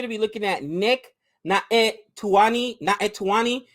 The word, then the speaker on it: Naitanui: If I mispronounce that, let me know. But I know in Hawaiian, and it looks like a Hawaiian last name. Usually the N and the I, you got that accent, so it should be Naitanui.